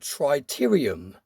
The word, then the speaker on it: tritium: comment section, it turns out that it's called tritium. Now, I'm not sure if I pronounced that right, so I will put a picture of the spelling on the screen now, but it's spelled T-R-I-T-I-U-M, tritium.